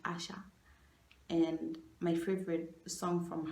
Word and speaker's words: Asa: My favorite song currently is Asha, not Asha like. Yeah, not that guy. Asha. It's her name is pronounced Asa, A-S-A, but it's pronounced. Her name is spelled Asa, but it's pronounced Asha.